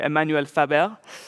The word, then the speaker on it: Emmanuel Faber: We are lucky to be able to interview Emmanuel Faber, who is or I should pronounce that in the French way, Emmanuel Faber, who is the chairman of the board and CEO of Danone.